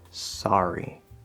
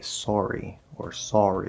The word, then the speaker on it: sorry: In some dialects, they say sorry or something like that. I don't know. But I say it with just the ah sound, spelled with an O, but in this case pronounced ah.